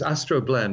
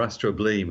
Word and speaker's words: astrobleme: Astroblem or astrobleem, as it looks to us. I'm not, I think you pronounce it as you like. Really, depends which school you went to, probably.